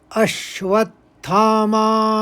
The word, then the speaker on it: अश्वत्थामा: तीसरे चरण को देखिए यहां पर अ के ऊपर आघात है और व के ऊपर आघात है और फिर दूसरे शब्द में ण के ऊपर आघात है तो इसे इस तरह से पढ़ेंगे तीसरे चरण को अश्वत्थामा विकर्ण च अब देखिए चौथा चरण